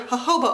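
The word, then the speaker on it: jojoba: one hundred percent pure mahoba oil that's how you pronounce it I googled it fact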